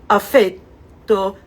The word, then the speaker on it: affetto: In Italian, we say the stress is shown by the lengthening the syllable, not necessarily the vowel, but the syllable. Affetto, affetto, that is a short vowel, but a long syllable.